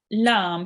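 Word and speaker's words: لَ: And a kaf with the fatha is pronounced Ka. Ka. Well done. Ka. Right. Now we have lam here.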